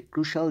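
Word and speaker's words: crucial: যাই হোক পরের যে হেডলাইনটি দেখুন এটি হচ্ছে ক্রুশাল দিয়ে শুরু হয়েছে সো ক্রুশাল মানে হচ্ছে কি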